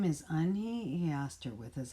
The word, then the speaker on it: Unhei: turned to joey she nodded slowly yes it's pronounced yin hey and it means grace mr kim added yoon hey joey said slowly this time perfectly it made